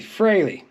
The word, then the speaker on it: Frehley: Ace Frehley excuse me I said freely for a long time so my friends before we found out it's actually Fraley it's Ace Frehley and